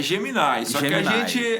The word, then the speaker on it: Gemini: sempre fico na dúvida, como é que pronuncia? é Gemini.